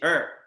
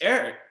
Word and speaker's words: Eric: again what's your name i say er say what i used to get offended it's eric he's like earn so then i started realizing like oh i'm not finishing my words it's eric it's not baltimore it's